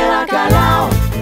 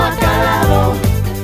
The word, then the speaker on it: bacalao: Se dice bacalao, no ha calado, no está dorado, está dorado.